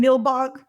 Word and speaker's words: Nilbog: And they go to like this isolated house and in Nilbog. Am I saying it right? Nilbog. Yeah, goblin backwards. Yeah, Nilbog.